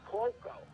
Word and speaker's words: Cuoco: Kaylee, is it Kyuko? Koiko? What's her name? Cuoco. How do you pronounce the last name? I believe it's Cuoco.